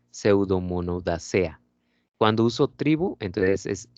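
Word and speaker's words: Pseudomonadaceae: Ya no se pronuncia la última E. Entonces sería Pseudomonodacea.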